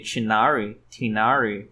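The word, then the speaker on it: Tighnari: Se a direção de áudio continuou com a ideia de chamar o Tainari de Tainari, né? Enquanto tecnicamente o nome dele seria Tinari, ou acho que é Tinari na pronúncia correta.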